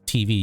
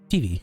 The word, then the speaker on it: TV: But you don't say it like TV, you say TV, like Eevee.